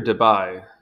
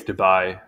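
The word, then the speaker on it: Debye: really quick and easy I feel like it's Dubai not Debbie okay so the spatial scale I'm just going to pronounce it Dubai sorry if it's wrong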